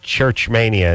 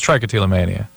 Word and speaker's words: trichotillomania: how come uh when you said Church Mania and Drew said uh trichotillomania or whatever he said and you stuck to your church one it's trichotillomania oh okay I'm sorry I mispronounced It Anyways I've had that